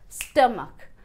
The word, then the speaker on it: stomach: There are two syllables in Stomach; the first syllable will be stressed. Speak first syllable with some stress.